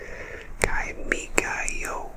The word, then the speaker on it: Kimigayo: It is officially called Kimigayo, and that is spelled K-I-M-I-G-A-Y-O.